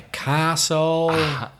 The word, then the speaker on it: castle: hombre you've got the castle castle Castle yeah that's a castle castles got the silent T listen silent teeth listen